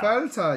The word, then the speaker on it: Fel: share soon Fel yeah Fel you have to say it like a German Fel Fel yeah we're both